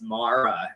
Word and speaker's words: Mara: Yep, we talked to her walking down the road, and you called her Mara, and I said it's Mara, and she's like, "Cody's the only one that knows how to say it." I said, it's Mara.